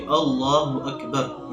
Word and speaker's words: اللہ اکبر: تلفظ ٹھیک ہونا چاہیے، اللہ اکبر، یہ اس کا تلفظ ہے، حمزہ بھی واضح ہو اور را بھی واضح